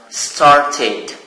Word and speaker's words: started: So this verb ends with t. The sound t. So plus ed, it is pronounced started. Id.